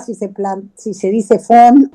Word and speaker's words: von: Vamos a empezar que el apellido no es tan difícil, pero Adela, no es indispensable pronunciar bien los apellidos raros alemanes. Fon, ahí la pegaste con el fon porque el concorta fon quiere decir d.